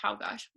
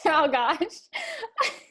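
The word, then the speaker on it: Czolgosz: So yeah, I believe it's pronounced Chałgosz. We're gonna call him Leon from now on. Okay. I'm like, Chałgosz.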